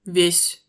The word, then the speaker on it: весь: вес, Pois, весь, tout, лук, oignon, люк, trappe, мат, comme dans échec et mat, мять, froissé, Тамбов, une ville au sud-est de Moscou, любовь, amour.